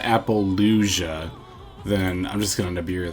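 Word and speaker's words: Apollousa: Unless they go for an Appaloosa. Appaloosa. Not Appalachia. Appaloosa. I'm gonna be honest, I've literally my whole life always pronounced Yu-Gi-Oh cards wrong.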